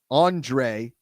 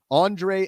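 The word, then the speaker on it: Ondřej: the first name but I think it's Andre but it's spelled o-n-d-r-e-j Andre Satoria of the Czech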